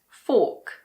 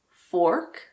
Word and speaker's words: fork: as in Australian English, the R is silent if it is followed by a consonant or if it's at the end of a word. For example, in this word, fork. In American English, it's fork, but in British English, it's fork.